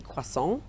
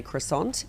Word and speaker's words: croissant: I think the traditional French pronunciation would be quas, but in Australia, it's very common to say croissant. And I'm not one to judge someone for coming in and ordering a quissant.